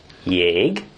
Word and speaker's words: Jégpálya: Because that's actually two letters, L-Y and Y, but pronounced the same.